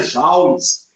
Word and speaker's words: joule: Olha lá, se escreve joule, né? Ó, mas se pronuncia joules.